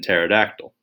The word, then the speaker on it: pterodactyl: to spell them even pterodactyl the p is silent here in fact rex